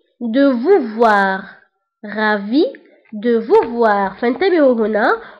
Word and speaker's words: ravi: Ravi de vous voir. Ravi de vous voir. فانتبهوا هنا قلت S de ravi la ننطقها.